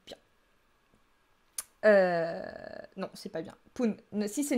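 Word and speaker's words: 分: Donc, ce kanji, donc fun ou pun, se prononce fun après les chiffres 2, 5, 7 et 9. Aucune logique. Mais c'est comme ça. Et se prononce pun après les chiffres 1, 3, 4, 6, 8 et 10. Oui, faute de frappe. Et donc, les chiffres 1, 6, 8 et 10 qui précèdent pun se prononcent respectivement ippun, roppun, appun et juppun. On peut aussi dire juste jippun.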